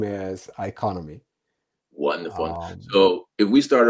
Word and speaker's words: Iconomi: for having me the the correct name is iconomy wonderful so if we start off really easy